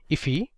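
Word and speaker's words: IIFE: So this is known as an immediately invoked function expression or I if which is often pronounced as ify.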